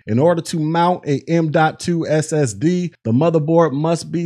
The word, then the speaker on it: M.2: talk about m.2 drives and yes it is pronounced m.2 and this is an ssd that looks like